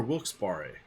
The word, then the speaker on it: Wilkes-Barre: Scranton Wilkes-Barre there for, is it Wilkes-Barre or Wilkes-Barre? Wilkes-Barre. Wilkes-Barre, thank you. I've never heard it pronounced, even though I know it wasn't the office there. It's like the wrongest way possible.